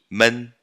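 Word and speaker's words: 们: M-E-N, man. Tom neutro. Só perdeu o tom, mas continua M-E-N, beleza?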